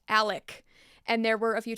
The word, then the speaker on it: Alex: where I accidentally said Alex instead of Alec it's confusing because it's spelled Alex but it's pronounced Alec and there were a